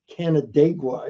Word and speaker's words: Canandaigua: Like when they took Morgan to a town called Canandaigua, is I believe how you pronounce it, and they put him sort of on trial for stealing a coat and tie.